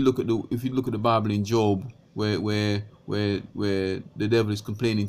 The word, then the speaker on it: Job: Some unbelievers called Job as in J-O-B, Job, but it's pronounced Job.